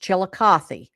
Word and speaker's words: Chillicothe: It is pronounced Chillicothe.